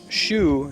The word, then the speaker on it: Xu: system pinion so like shu is usually spelled XU if you see a Chinese person's name and there's an exent you pronounce it like an sh in English not like a z which people tend to